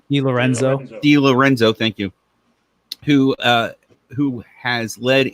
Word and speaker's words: DiLorenzo: DiLorenzo, thank you.